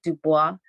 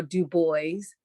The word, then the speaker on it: Du Bois: is the image of W.E.B Dubai on or do boys depending on where you are how you might want to pronounce that and uh he is